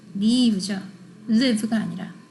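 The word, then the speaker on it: leave: 쓰는데 그거 아니죠 우리 대문자 i 소문자 i의 발음 기호에 대해서 얘기를 했었었죠 장음이면서 밝은 발음이에요 그럼 뭐예요 맞아요 떠나세요라고 하는 그 리 리브죠 사이다 산다 이건 뭘까요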